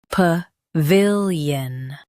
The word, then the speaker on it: pavilion: pa vil yun pa vil yun Stress vil and keep pa light.